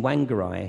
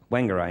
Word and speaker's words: Whangarei: So she was in Whangarei in New Zealand, I think that's how you pronounce it. And, how'd you say it? Whangarei, yeah, that'll work.